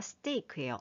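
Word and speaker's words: stake: 스테이크예요. 어, 우리가 먹는 그 스테이크랑 발음이 똑같네요.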